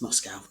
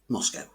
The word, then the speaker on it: Moscow: still learning what off to Moscow yes it's Moscow not Moscow which is how I've been pronouncing it all my life Moscow is the capital and largest city in Russia